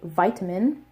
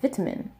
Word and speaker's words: vitamin: from American English, which in the type of American English that I speak, I say vitamin, they would have probably pronounced this word like vitamin, vitamin, because we say vitamin, but British English says vitamin, and that's why the Korean version is pronounced like vitamin, vitamin. It sounds really close to the British English version.